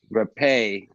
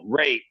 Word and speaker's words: rapé: now it's called Rapé, but it's spelled Rape, but there's a apostrophe on the E that makes it Rapé. But so it's spelled rape. So it's like, yeah, like a lot of people probably like, yeah, what Oh, rape, shit. right? But it's pronounced Rapé.